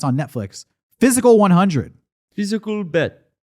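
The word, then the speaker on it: Physical: 100: Physical bet. Physical bet. That's how you say it in Korean, because man, they say it about 1,000,000 times in that show.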